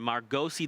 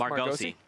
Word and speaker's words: Margosi: Margosi? Yep. I actually had a chance to meet, well, when I interviewed him, I was like, is it Margos or Margosi? He said Margosi.